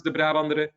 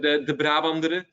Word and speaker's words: De Brabandere: So I know it's not an easy name to pronounce, De Brabandere.